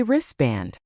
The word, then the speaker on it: wristband: Or lastly, we usually say lass l y wristband. Most people say wristband.